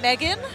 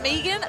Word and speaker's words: Megan: For me, because they kept pronouncing it Megan instead of Megan, they photoshopped my head onto the Walking Dead character Negan on his body, and they put it up.